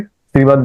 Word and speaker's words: श्रीमद्: है अच्छा आप बोलिए श्रीमद् भगवत गीता श्रीमद् भगवत गीता श्रीमद् भगवत गीता श्रीमद् भगवत गीता क्योंकि भगवत द और दूसरा भी द ये हलंत है वो हलंत उच्चारण करना है हालांकि यहां दिखने में भ छोटा है।